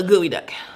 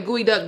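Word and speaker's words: geoduck: Or eat a gooey duck.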